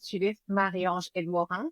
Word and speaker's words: Judith Marie-Ange Edmorin: Yes, so my name is Judith Marie-Ange Edmorin. That's how I pronounce it.